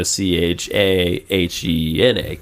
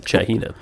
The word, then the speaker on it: Chagina: But the G pronounced like an H, so it comes out more like a Chahena kind of thing. Chahina.